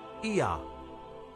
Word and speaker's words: Ea: And the third god was called Ea, which is pronounced Ea, and it became Yah, and Yah became Yahweh.